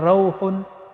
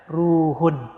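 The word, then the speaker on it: رُوحٌ: Jadi riwayatnya Aisyah dibacanya bukan rauhun, tapi dibacanya ruhun.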